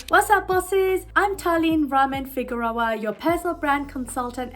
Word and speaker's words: Talyn: My name is Talyn, Talyn. Yet I have a million different variations on how people pronounce my name, no matter how many times I correct people.